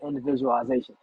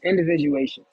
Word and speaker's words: individuation: so individuation I think I was saying it wrong of the day I was saying individualization it's individuation the goal of the youngin